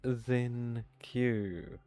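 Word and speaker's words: Xingqiu: It's Zen Q because X is pronounced like a Z generally which gives us the zing and then Q IU you'd pronounce that Q.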